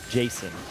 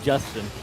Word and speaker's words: Jason: names and he's like uh Jason not not Justin Jason called me Justin the proper pronunciation for